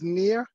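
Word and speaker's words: Nir: sir yes good evening everybody my name is Nia it's spelled n-i-r and my last name is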